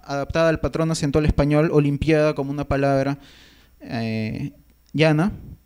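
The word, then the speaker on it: Olimpíada: Entonces tenemos palabras que se han creado con raíces griegas o latinas como Olimpiada, que lleva una tilde en la I, que está coexistiendo con una forma adaptada al patrón acentual español, Olimpiada, como una palabra llana y además diptongada, ¿no?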